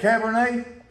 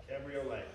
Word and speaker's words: Cabriolet: How do you say it, Cabernet? Cabriolet.